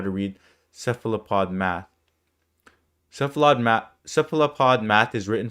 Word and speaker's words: cephalopod: How do you pronounce this again? Cephalopod. Cephalopod.